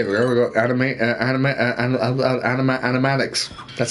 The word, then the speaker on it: animatics: there uh hey there we go animate anime animatics that's how you pronounce it look at this rough sketches of